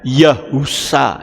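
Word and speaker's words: יהושע: Yod He itu membacanya Yah, itu betul. Tapi kalau sudah belakangnya dikasih Waw, itu membacanya jadi Yahu. Sin Ayin jadi Sa. Jadi membacanya Yahusa. Itu baru benar.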